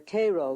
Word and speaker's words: Cairo: Oddly enough though, Illinois is sometimes referred to as Egypt because the fertility of the soil in and around Cairo or Cairo, giving it the Illinois pronunciation, resembles that of its Egyptian namesake.